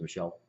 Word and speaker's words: Michel: call the shelf so my last name is Michelle Michael Michelle okay well good there you have